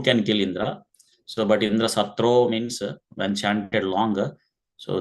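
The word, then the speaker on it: इन्द्रशत्रु: So it has to be pronounced with a short way, like Indra Satro. Instead, Twasta pronounced in a long manner, Indra Satro, like that. So the meaning is entirely changed.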